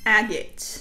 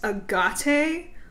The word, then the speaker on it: agate: for those purposes moss agate if you ever heard me pronouncing this agate or a gate no you did not we got citrine this